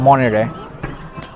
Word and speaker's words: Monterey: সো আমি এখন আছি মনটেরি, সেটা পঞ্চাশ হচ্ছে মনটেরি, MONTERY, সো টির উচ্চারণটা হয় না, এটা মনেরে।